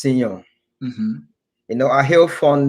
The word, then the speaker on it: Seyon: a good guy the name creator the name sayon tell me what those names mean actually sayon according to what i know uh it's actually pronounced senon you know i heal from the court speaking